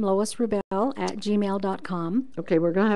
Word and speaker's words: Wrubell: And then there's a Wrubell, is the way you pronounce it, but there's a W sitting there. So Wrubell You got it.